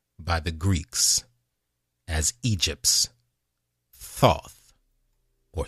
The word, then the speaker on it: Thoth: djibouti became known by the Greeks as Egypt's Thoth or Thoth th o th that's where we get the